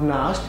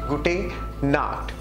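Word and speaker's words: gute Nacht: the next rule is good not good not it's not Nast it's Gooding not which means good night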